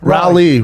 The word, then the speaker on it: Raleigh: or in British English we would say rally as in the same way you pronounce like a rally car that's what you'd pronounce